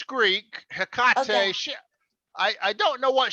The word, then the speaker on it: Hecate: They pronounce it Hecate. Hecate. This is Latin word, right? Greek. So a Greek, it's what? A Greek word? Or Latin? It's Greek. Hecate.